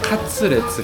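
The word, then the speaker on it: カツレツ: 그러니까 " 커틀릿 " 을 일본식 으로 발음 하면 " 카츠레츠 " 가 되는 겁 니다 .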